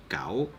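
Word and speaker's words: 九: The number 9 is actually pronounced as gao.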